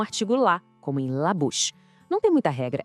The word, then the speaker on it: bouche: E a boca, la bouche. Aqui, o OU tem aquele som de U do português. E o che soa como o nosso che de chapéu. Vamos lá? La bouche.